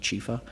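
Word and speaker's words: Ciffa: a native shop so my last name is chifa it's spelled c-i-f-f-a it's Italian so it's pronounced chifa so Chief has been like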